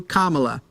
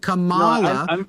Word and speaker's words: Kamala: from that's her name she has she has told people how to pronounce it she has corrected it multiple times it isn't hard trying to pronounce it Camala because people like that it sounds more ethnic and thinks it undermines her instead of just pronouncing it the way it sounds that's her name well